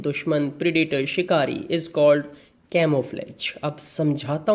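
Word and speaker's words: camouflage: मेरे साथ प्रोनाउंसिएशन करेंगे, बोलेंगे साथ साथ, कैमोफ्लेज। यस, एक बार फिर से रिपीट करो बेटा, कैमोफ्लेज। Camo, CAMO, camo. Fledge की स्पेलिंग FLAGE, कैमोफ्लेज, ठीक है।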